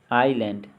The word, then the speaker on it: island: आइलैंड, आइलैंड में silent कौन सा लेटर है, तो S साइलेंट है।